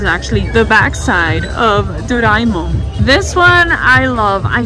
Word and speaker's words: Doraemon: Is that how you pronounce it, Mr. Emil? Yes. Doraemon.